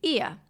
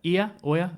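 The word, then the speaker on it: Oia: then another main place you have there is Ia.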